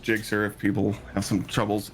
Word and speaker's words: Gsxr: everything's gs xr clyde it's pronounced jigsaw if people have some